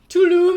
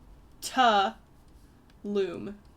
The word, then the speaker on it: Talamh: It is Talamh Town. Okay. It's Irish. It's supposed to mean... Hello. Tulum! Sorry. No, it's more... It's Ta-loom.